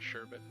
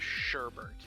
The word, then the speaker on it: sherbet: How do you pronounce that word as sherbet? You are asking the wrong person. I've just always heard it sherbet so long. It's sherbet. I hate it. It's pronounced sherbet. Also, there's only one U in nuclear.